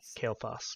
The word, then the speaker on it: Kael'thas: you say it again kenny sorry kale okay kale foss okay okay uh for kael'thas and everest uh